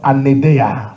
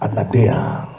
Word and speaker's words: Anaideia: au troisième point, which is the teachings of Anadea. Someone say les enseignements Anadea. d'un anédéa. Anadea. Anadea. Les enseignements d'un anédéa. Anadea.